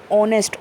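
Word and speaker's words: honest: तो बच्चों मैं बता दूं, एच जो है यहाँ पर साइलेंट है। जो हमारी साउंड आती है वो मात्राओं वाली साउंड आती है, जैसे कि आवर, आ की मात्रा होती है हमारी, ऑनेस्ट ओ की मात्रा होती है हमारी।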